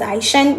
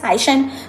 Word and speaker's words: 海参: and dry weather 例如海参 this would be 海参 not 海滩 It is 海参 This word has two ways of pronouncing them Yes, 海参 That's sea slug 当水温超过20摄氏度时 This thing is called 摄氏度 Degree Celsius is called 摄氏 do.